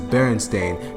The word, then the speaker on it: Berenstain: Although the word Berenstain is spelled with an A, there's a good percentage of people, including myself, who spelled, read, and even pronounced it as if there was an E there, even though the theme song clearly says Berenstain.